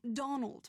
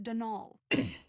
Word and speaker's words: Donal: caretaker denal Delaney not Donald mind you there's no D at the end so it's pronounced denol that's the way you're